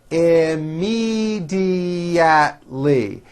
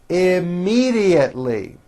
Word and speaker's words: immediately: me a general idea immediately has five syllables immediately immediately once i took the